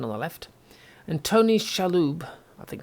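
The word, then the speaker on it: Shalhoub: And Tony Shaloo, I think how you say his name.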